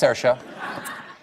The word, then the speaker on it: Saoirse: Tell me how I'm supposed to say that one's Saoirse. That's Saoirse. Does anyone know how to pronounce that in the audience?